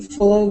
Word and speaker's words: fooled: So we don't add an extra syllable. Okay, fooled and turned.